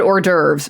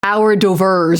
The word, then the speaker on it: hors d'oeuvres: all confidently pronouncing, like instead of saying hors d'oeuvres, like our d'oeuvres or something like that, like the wrong pronunciation.